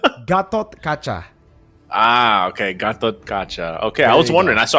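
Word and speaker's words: Gatotkaca: just say good G Gat kcha ah okay Gat kacha okay I was wondering so I just had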